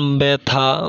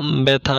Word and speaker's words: ব্যথা: ক, আদ্যবর্ণে জফলা যুক্ত হলে বর্ণটি অকারান্ত বা আকারান্ত হলে উচ্চারণ এ কারান্ত হয়ে যায়, যেমন ব্যথা, ব্যথা, ন্যায়, ন্যায় ইত্যাদি।